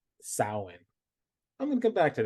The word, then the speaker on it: Samhain: The upcoming event is October 28th, the Samhain Symposium, and that's all about promoting diversity and change, just like this fabulous podcast. So you said that was the Silence Symposium? Samhain.